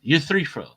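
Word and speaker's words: Euthyphro: Yeah, U3-fro.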